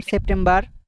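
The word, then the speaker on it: September: আমরা এটা কি বলতাম সেপ্টেম্বার বার বলতাম কিন্তু আমরা সেপ্টেম্ব মানে ঠ উচ্চারণ হবে ট টা কি ঠ হবে সেপ্টেম্ব হবে র টা কিন্তু উচ্চারণ হবে না এন্ড আমরা কিন্তু এই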